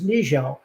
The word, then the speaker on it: Niziol: And even though it's Niziol like drizzle, it's spelled Niziol. Nope. IOL. Niziol. Sorry. Yeah. And That's a good last name. And the last tidbit, the official Polish pronunciation of my name is Niziol.